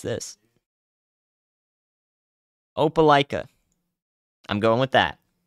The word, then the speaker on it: Opelika: they're like no it's this no it's this Opelika I'm going with that Opelika Opelika yeah all right anyways so this uh